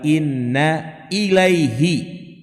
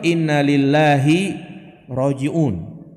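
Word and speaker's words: إِنَّا إِلَيْهِ رَاجِعُونَ: Subhanahu Wa Ta'ala ya ingat cara bacanya innalillahi wa inna ilaihi ya bukan innalillahi wa Innalillahi roji'un jadi Ilahi diganti lillahi dan bacaan ini juga boleh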